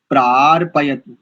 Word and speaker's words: प्रार्पयतु: पशून नहीं करेंगे, पशून, पशून, दीर्घ, उकार दीर्घ है एक, और दूसरा प्रार्पयतु, पार नहीं प्रार, जैसे प्रजा, जैसे आपने प्रजा शब्द बोला ना, वैसे प्रार्पयतु, जैसे प्र ऐसे प्रा,